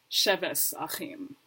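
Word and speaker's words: שבת אחים: Tav changes to an S sound. Normally, tav makes a t, like a T sound. However, in old school Ashkenazi pronunciation, tav will change from a T to an S sound. So that's how you get sheves achim.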